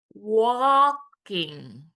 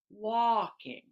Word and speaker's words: walking: We'll move on to walking. Walking. And notice in w the L is silent, right? Walking.